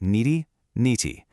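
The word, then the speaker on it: नेति: That's pronounced niti. And it literally just means not this, not this.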